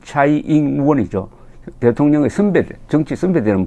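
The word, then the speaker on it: 蔡英文: 지금 최영문 현 대만 대통령, 그 현지 발음으로는 차이잉원이죠.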